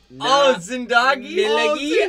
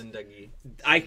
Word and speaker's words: Zindagi: I was told you're not supposed to hit the Zin hard.